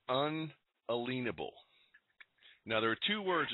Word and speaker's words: unalienable: constitution says we have inalienable rights no you're pronouncing it wrong um you're you're not getting it it's unalienable now there are two